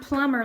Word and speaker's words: plumber: be a plumber okay the word plumber looks really weird because there's a bee in it okay the bee is silent all right so let's